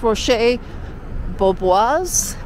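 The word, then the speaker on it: Roche Bobois: And we came into this, I think it's pronounced Rocher Beaubois, Paris.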